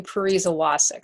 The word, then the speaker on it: Pariza Wacek: And my last name is, because we were talking about this, it's Pariza Wacek. So for all of you wondering how to pronounce it, that's how you pronounce it.